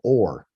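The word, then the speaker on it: עור: This one here is called or as well. The pronunciation is or, like or.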